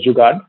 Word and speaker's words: jugaad: in the western world it's pronounced as jugaad so there are only